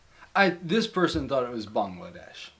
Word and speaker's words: Bangladesh: Oh, like bang bang. Bang. Yeah, bang. Like okay, it's spelled B-A-N-G.